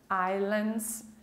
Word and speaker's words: Islands: Nós não pronunciamos o S, Islands, Micronesia, Vanuatu e Kiribati.